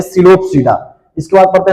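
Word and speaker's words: Psilopsida: है चार प्रकार के पहला है सिलो सडा यहां पे पी साइलेंट होता है इसको पढ़ेंगे सिलो सडा इसके बाद पढ़ते हैं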